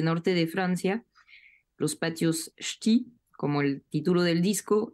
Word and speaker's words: Ch'ti: Exactamente, Ch'ti. Parece un esternudo.